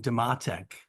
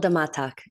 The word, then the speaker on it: Damatac: First up is, I'm going to say it wrong, Damatac, who wrote Dirty Kitchen with Atria. Welcome. Pronounce your name again for me, please. I'm sorry. You nailed it, Ron. It's Damatac.